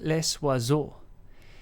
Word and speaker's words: Les Oiseaux: pronounce pronunciation in English so this is said in France as was okay so it's less wazoo uh what does it